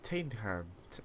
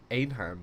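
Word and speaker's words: Teynham: stopping this is t tanham uh T yeah tanham oh someone's got to com it's like no qu it's actually it's actually uh anham with a silent T it's literally everything that's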